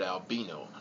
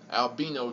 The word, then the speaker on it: albino: Not an albino, like a lot of other people say, but albino. That's how it's supposed to be pronounced, so pronounce it correctly.